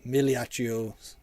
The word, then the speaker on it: Migliaio: Migliaio Millia G is silent.